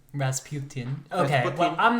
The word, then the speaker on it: Rasputin: say it it's not Rasputin the correct Russian pronunciation is Rasputin Rasputin okay well I'm not